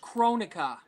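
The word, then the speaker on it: Kronika: Shang Tsung his powers and rightfully so it's pronounced chronica oh okay all right I'm sorry uh the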